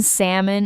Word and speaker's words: salmon: The letter l in salmon is just sitting there doing nothing.